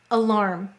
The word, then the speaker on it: alarm: Why did it say its long sound? A, E, O, U usually say their long sounds at the end of the syllable. And in this case, it's in an unstressed syllable, so it's being lazy.